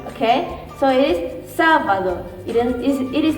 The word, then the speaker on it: sábado: So in this part, the first part of the word we have to pronounce stronger, okay? So it is sábado.